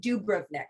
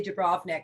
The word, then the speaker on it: Dubrovnik: dubrovnik and and really to pronounce it correctly and croatia they call it dubrovnik they really uh put the emphasis on that the do we usually say dubrovnik um but just for